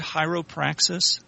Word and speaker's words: Hieropraxis: So, did I pronounce that right? Hieropraxis? You did now.